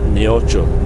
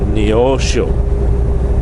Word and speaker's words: Neosho: I said, not Neocho, Neosho.